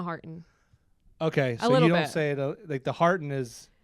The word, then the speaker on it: Harton: Harton. Okay, so little you don't bit. say it like the Harton is It's like Martin with an H.